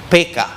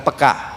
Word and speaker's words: peka: hubungan ini sangat peka dalam bahasa Indonesia sebetulnya pengucapannya yang benar gaya orang Batak PK bukan peka saudara PK sensitif karena